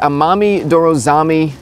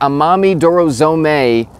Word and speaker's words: Amami Dorozome: This is the Amami Dorozami, or Dorozomi. Just gotta look up how to say it here. Oh good, no one knows. This is the Amami Dorozome crew neck.